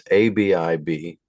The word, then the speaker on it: Abib: and see if that's even the way to pronounce that. It's ABIB.